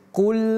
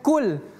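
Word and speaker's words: قل: Tapi Qul huwallah bukan kul. Kul huwallah keliru.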